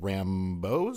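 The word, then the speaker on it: Rambeau: Her relationship with Rambos, is that how you say it?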